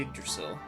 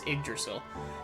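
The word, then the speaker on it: Yggdrasil: head to the palace in the uggdrasil i mispronounced that it's iggersil um who got it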